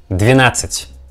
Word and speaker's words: двенадцать: Двенадцать, двенадцать, двенадцать. As for this figure, we get the same situation like with figure 11, 11.